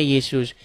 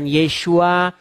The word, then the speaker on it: Yesus: Nah, kemudian orang Indonesia ya mengucapkannya Yesus. Nama itu tidak masalah. Mau dia diucapkan Yesus, mau dia diucapkan Yesua, itu tidak jadi masalah.